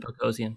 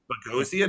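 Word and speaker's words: Boghossian: this wrong Peter basian I think he pronounced it bagian bagian I think bagian okay beian a philosopher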